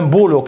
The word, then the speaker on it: boulot: Alors, cette syllabe-là, comment on la prononce? On dit O, c'est-à-dire on la prononce O. Alors, c'est O. O-T. Un boulot.